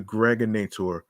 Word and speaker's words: Greg Nator: This is your man and homie, aka the Greg Nator. rhymes with now or later.